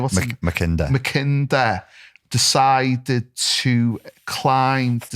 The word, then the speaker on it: Mackinder: I think it's Mackinder. Mackinder, sorry.